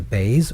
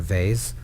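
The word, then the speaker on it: בית: So Bays can be pronounced as a Bays or a Vase. Translated into English, that would be an example of a B and a V.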